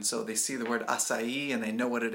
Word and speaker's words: açaí: title of this podcast is how do I pronounce acai in English so there you go that's how you say it acai but why and this is where I've had